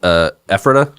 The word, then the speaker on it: Ephrata: Found human remains in his Ephrata. Is that how it's pronounced? Yes. Ephrata home, including corpses hanging from the ceiling.